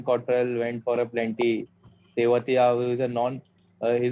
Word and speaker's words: Tewatia: He's मकसूद भाई बहुत Tewatia, not Trevatia.